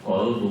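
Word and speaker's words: qalbu: Musuh manajemen kalbu, manajemen anjing. Kan harusnya manajemen kolbu, yang benar manajemen hati.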